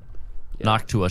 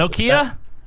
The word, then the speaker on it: Noctua: Noctua shells. Noctua? Is that how you say it? Yeah. Noctowl? Like no. A Pokemon? That's a computer fan brand. Oh, okay. Noctua. Yeah, the brown fans. Yeah, that's Nokia?